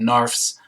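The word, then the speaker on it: narfs: a member of a race called nerfs rhymes with barfs she has come to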